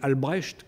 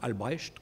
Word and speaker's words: Albrecht: Il s'en prend, par exemple, au prophète, entre guillemets, Albrecht, qui avait des prétentions messianiques, un certain Albrecht, comme ça s'écrit, et comme ça se prononce, A-L-B-R-E-C-H-T, qui